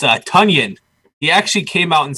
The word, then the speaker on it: Tonyan: goes it rhymes with he goes it rhymes with bunions i love it new